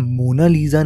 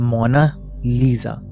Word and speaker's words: Mona Lisa: हो गया असल में इस प्रिंटिंग का नाम मोना लीजा नहीं है यह एक स्पेलिंग मिस्टेक है जो असल में इस पेंटिंग का नाम है वह है मोना लीसा इडली में मोना लीजा